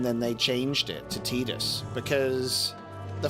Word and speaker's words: Tidus: I was pronouncing Tidus correctly instead of Tidus.